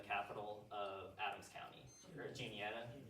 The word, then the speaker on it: Juniata: referee to decide whether Juanita or Hastings would become the capital of Adams County, or Juniata. Juniata's how you pronounce that one.